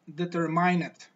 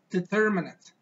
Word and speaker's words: determinant: well I hear people I hear learners pronounce that word like determinant determinant but actually the word does not sound like the word sounds determinant determinant determine well actually